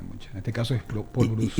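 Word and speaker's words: Paul Brousse: mucho tipo de acento hay veces que no se pronuncia al final depende mucho en este caso es Paul Bruce y depende de que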